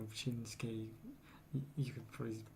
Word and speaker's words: Shinsuke: Like it varies between things like Shinsuke. You could probably. I know people probably think Shinzuki if they look at the name. Yeah. That's how I used to pronounce Japanese names before I understood the pronunciation.